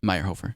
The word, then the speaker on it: Mayerhofer: My hover. Yeah, my pronounced.